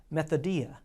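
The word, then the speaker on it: μεθοδεία: The actual Greek word that is translated into schemes is a word that you may even recognize as it is pronounced methodia, which is the word that we get our English word method from.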